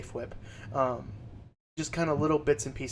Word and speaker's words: Fwip: I took a lot of inspiration from Pixlriffs and Fwip, and I know he pronounces it just Whip or F-Whip, but I like to say Fwip.